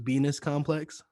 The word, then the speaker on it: VENIS Complex: I think it's pronounced Venus Complex. Yes. Yeah, that is the name.